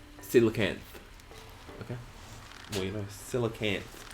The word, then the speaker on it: coelacanth: Artichoke says it's pronounced as Silicant.